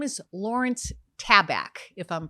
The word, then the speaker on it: Tabak: His name is Lawrence Tabak, if I'm pronouncing it correctly. T-A-B-A-K.